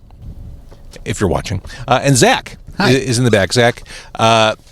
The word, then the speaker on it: Xack: if you're watching, and Xack is in the back. Xack, X-A-C-K. Yep. The X is pronounced like Z, like Professor Charles Xavier of the X-Men. Yes, I actually say like xylophone is my go-to.